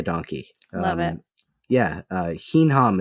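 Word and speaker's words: hinham: love it yeah uh hinam it's spelled h i n h a M and if you try to say that with a you know heam heam heam it it sounds like a donkey it's great oh man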